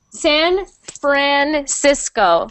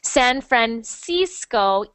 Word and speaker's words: San Francisco: a smile oh thank you welome um okay San Francisco so not Cisco but Cisco with that a